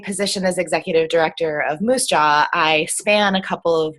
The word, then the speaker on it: MUUSJA: Ashley Herron who is the executive director of Moose Jaw as they pronounce it the Minnesota uu social justice Alliance